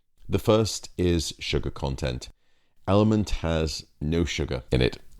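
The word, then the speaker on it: LMNT: called element um now it's actually spelled with four letters L MNT element I'm an exercise nut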